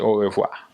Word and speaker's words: au revoir: Like say au revoir. In French we have the R. You can hear the R at the end, au revoir. But in Creole we say au revoir without it.